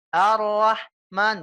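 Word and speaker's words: الرحمن: yang keluar nafas enggak cukup hanya dengan senyum Arrahman jangan ya tapi kita harus mengeluarkan nafasnya secara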